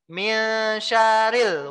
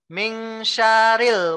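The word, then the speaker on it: مِنْ شَرِّ: a'udzu birabbinnas malikinnas ilahinas mi syarril waswasil khannas Apakah seperti itu Ming syarril waswasil khannas salah tapi yang benar adalah Mi syarril roknya ditasydid ada Kadang orang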